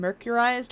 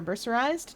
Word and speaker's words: mercerized: It's a cotton thread that's been mercurized or mercerized, depending on how you like to pronounce that.